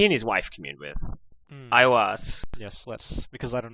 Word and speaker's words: Aiwass: paragon, Aiwas. Aiwas. It's spelled Aiwass. Oh man. So like all prophetic visions, it sort of nestles the word "us" in there, just to clue you in.